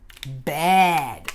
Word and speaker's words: bad: Bad. Repeat, bad. Bem aberto, olha. Bad. Não confunda com cama, que é com a letra E, que a gente fala bed.